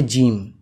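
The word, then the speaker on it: ج: 3 second টান দিয়ে আমাকে জিম বলতে হবে, এমনি করে জিম জিম। তোমরা বলো একবার জিম।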